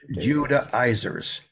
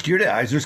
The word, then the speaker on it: Judaizers: You can pronounce it different ways. That's how I have always pronounced it. Judaizers.